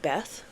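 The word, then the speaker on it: Beith: But the birch tree, I think it's just pronounced Beth.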